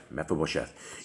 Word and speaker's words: Mephibosheth: Mephibosheth.